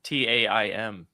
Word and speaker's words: Taim: How do you have pronounce questions. Mazrim? Taim.